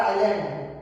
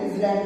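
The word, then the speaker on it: island: अरे आइलैंड, क्या होता है आइलैंड, आई मत लिख देना, आई इजलैंड होता है, इजलैंड होते हैं तो आइलैंड होता है, एस साइलेंट होता है।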